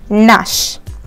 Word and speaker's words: gnash: நீங்கள் வந்து ஜியை வந்து சேர்த்து ப்ரொனவுன்ஸ் பண்ணக்கூடாது. இட் is just Nash.